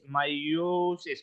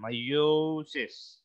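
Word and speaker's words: miosis: mouth dilates AIS the opposite of massis is myosis my mouth constrict with its pronunciation myosis so that's pupal construction if it's for meosis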